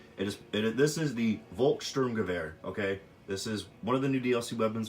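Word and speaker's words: Volkssturmgewehr: everybody you know I know not everybody can pronounce everything correctly but it just this is the Volkssturm Gewehr okay this is one of the new DLC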